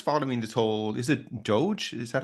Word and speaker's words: DOGE: Whereas now, what's coming out of the policy changes in America, like if you're just following this whole, is it Doge? Is that how they pronounce it, Steve?